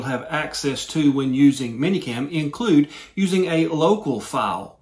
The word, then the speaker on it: ManyCam: that i showed you is going to be minicam now manycam m-a-n-y-c-a-m if you're not from the